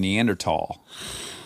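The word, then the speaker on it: Neanderthal: SAA drowning there's there's two other words I say correctly that no one says correctly what orangutan and neander tall those are both that's both the correct ways to say those words reminds me of when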